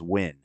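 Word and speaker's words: Nguyen: guu y n g u ye n spells win really I didn't even know that that's a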